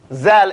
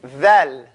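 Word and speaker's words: ذال: So, we're going to stop this zal and say dhal.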